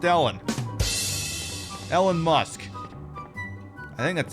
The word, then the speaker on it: Elon: I'm gonna tell you right now, Elon Musk is gonna be the death of this planet.